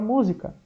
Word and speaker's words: música: Por exemplo, a palavra música. Música. Aí nós vamos falar assim, professor, mas não é o zi o mais forte? Não, porque ia ficar música.